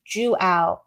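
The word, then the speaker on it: João: And Joao, thank you. He's helping us up. It's pronounced Juao.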